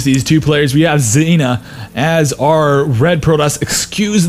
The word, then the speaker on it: Dzejna: I know the J is supposed to be pronounced like an I, as most countries in Europe pronounce it like that.